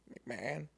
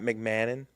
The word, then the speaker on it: McMahon: How do you say his name? McMannon. McMahon. Ryan McMahon. Is that McMahon? Not McMannon.